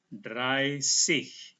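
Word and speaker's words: dreißig: Z ini tidak ditulis dengan huruf Z, tetapi ditulis dengan huruf yang disebut SZ. Yang ini dibaca seperti huruf S ya, S dua kali ya.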